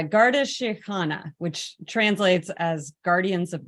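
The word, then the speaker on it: Garda Síochána: force what is it is it the Siobhan Garda it's a Garda shikhana which translates as Guardians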